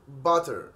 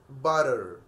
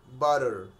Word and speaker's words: butter: وكمان الكلمة دي مش هنقول butter، احنا هنقول butter butter، فهم شالوا التي خالص وخلوها butter butter بالشكل ده.